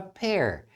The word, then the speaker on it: pair: Olá pessoal, na aula de hoje a gente vai fazer frases usando palavras que têm a mesma pronúncia, como por exemplo a palavra pear e a palavra pair.